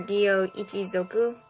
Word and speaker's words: Gyo Ichizoku: Gyo clan, or Gyo Ichizoku, is how it's said, is a clan touched is touched by God, which manifests in the possession of special abilities.